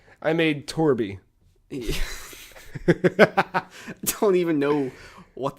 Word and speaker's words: Torb: So I made him, and his name's Torby, T-O-R-B, but it's pronounced Torby.